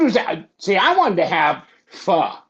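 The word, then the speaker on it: phở: She's like, "No, there's an accent on the top of the O, so it's pronounced pho."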